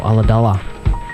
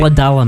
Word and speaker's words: Ulladulla: Or Ulladulla, Ulladulla, as I once saw a weatherman from Sydney pronounce it. He had no idea how to pronounce that. He it's really? Ulladulla, man.